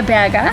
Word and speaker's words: Berger: Is that how you pronounce it, Berger? Berger. It's actually Berger.